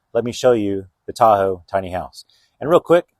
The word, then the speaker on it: TaHOW: TaHOW, why is it called TaHOW? Because obviously Lake Tahoe is T-A-H-O-E, and this is spelled T-A-H-O-W.